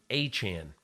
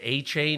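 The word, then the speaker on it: Achane: the column was about how Devin achian actually pronounces his last name achan and I had heard uh from the Dolphins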